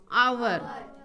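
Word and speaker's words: hour: इसको आवर बोलते हैं ना। तो वही रूल कहता है कि यदि किसी वर्ड का उच्चारण, मतलब वर्ड का स्टार्ट किससे हो?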